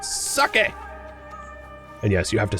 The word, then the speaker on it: sake: It's better to make it into complex goods like sake.